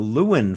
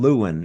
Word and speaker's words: Lewin: It's the wordthe and then luen and that's spelled l e w i n.